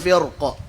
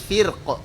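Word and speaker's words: فرقة: Coba antum baca misalkan fakana kullu firqa. Coba berhenti di sini. Ra-nya tebal atau tipis ini? Gitu kan? Antum baca dengan tipis firqa. Oh, salah. Bukan begitu cara bacanya. Firqa.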